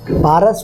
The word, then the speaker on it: پارس: فروشان فرنگستان سے پارس۔ پارس بھی ہے، پارس بھی ہے، فارس بھی ہے، فارس بھی ہے، مختلف تلفظات اس کے، مطلب ہے ایران۔ اور میں کے معنی